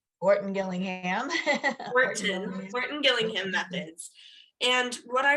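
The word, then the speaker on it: Orton-Gillingham: um obviously they use the um i always mispronounce it the organ gillingham orton gillingham gillingham methods and what i remember were they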